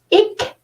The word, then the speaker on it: ik: And it's pronounced like this, ik.